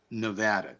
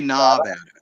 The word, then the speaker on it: Nevada: you got hey Tony you gotta say it like this Rich Nevada don't say NADA say Nevada NADA Nevada yeah nevadans get crazy if you say if you put an A in there Nevada Nevada Nevada